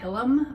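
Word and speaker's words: Hillam: the artist is named hannah hillem i believe is how you pronounce her last name it's h-i-l-l-a-m and i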